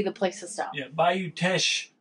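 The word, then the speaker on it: Bayou Teche: Yeah, Bayou Tesh Brewery. That's how you say it.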